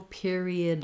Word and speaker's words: period: way thinking about um we have the ear diphthong here so i would rewrite it like pier um this is an another